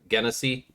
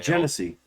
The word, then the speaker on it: Genesee: Have you ever had Guinnessy? So not Guinness, Guinnessy. Also, Oh. Guinness does make a cream ale. Genesee. Yeah, Genesee. Yeah. My uncle his favorite beer is Genesee.